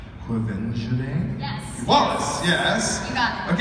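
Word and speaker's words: Quvenzhané: I'm gonna get this name wrong, so you're gonna do it for me. The film recently it was. It's Quevenjane?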